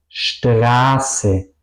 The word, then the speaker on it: Straße: Straße, grüßen. Es decir, vocal y la S suenan largas.